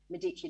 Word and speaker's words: Medici: I've been trying to say Medici like you do, because I'm sure you're right, but I've said it wrong for so long now. I can't help it.